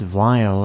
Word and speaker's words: Vile: a cyborg mad scientist yes it's pronounced vile and not wild that's what my research says anyway vile intends to kill